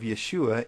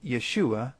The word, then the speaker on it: Yeshua: The first sound of the second syllable of Yeshua is the sh sound.